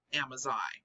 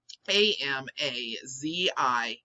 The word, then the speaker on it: Amazigh: They call themselves, I believe it's pronounced Amazigh. Amazigh.